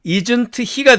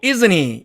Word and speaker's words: isn't he: A번 예문 볼까요? 여기 나와 있는 단어를 하나씩 읽으면 isn't he가 되죠. 그래서 사전식 발음은 isn't he입니다. 그러나 여기서처럼 이렇게 은트가 서로 만나면 트가 사라진다 그랬죠? 그 다음에 은과 흐가 만났어요. 그러면은 이 H의 발음은 은이 먹어버리기 때문에 또 사라지게 됩니다. 그러면 남은 게 isn't과 e가 남았으니까 이렇게 isn't he 이렇게 발음이 됩니다.